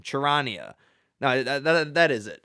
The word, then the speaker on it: Charania: I learned how to pronounce it. Shams. Damn, I don't know his last name. Charania.